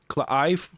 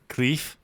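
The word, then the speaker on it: Cliife: You mean Clive? Cleef? Iffy. Clive. It's spelled C-L-I-I-F-E. One of the I and the E are silent.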